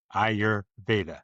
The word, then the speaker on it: Ayurveda: You break it up into pieces. Ayur, Ayur. And then you That got means Veda, life. Veda, Ayurveda.